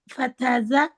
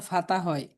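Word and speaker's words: فتحة: আ ফাতা আখ জাল ফাতাজা আখাজা আখাজা আখাজা আখজা ফাতা ফাতা আসলে বাংলায় লিখে দিছি তোদিন বাংলা লিখে দিছি এজন্য ফাতা হয় কিন্তু আরবিতে হবে ফাতহা ফাতাহা ফাতাহা ফাতাহা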